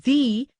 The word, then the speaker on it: the: a consonant sound and is pronounced as thee when in front of a vowel sound example the flower the